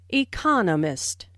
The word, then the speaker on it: economist: so it is emphasized there are four syllables in economist with the stress on the second syllable economist he just finished writing